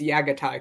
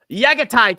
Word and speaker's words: Jaghatai: Don't tell the haters, but you actually pronounce the J as a Y. Go around telling people it's Jaghatai Khan. Jaghatai Khan.